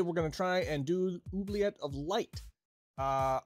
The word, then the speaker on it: Oubliette: gonna try and do oobleet of light uh i didn't know how to say this word until this morning i was calling it uh weebliet uh because i think